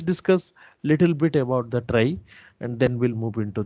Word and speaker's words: trie: Okay, the spelling is TRIE but pronounced as trie, which is a branching based on the last significant bit at the root.